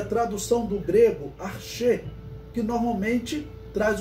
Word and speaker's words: arché: Então, arché ou arquê, como alguns pronunciam, significa isso, originador.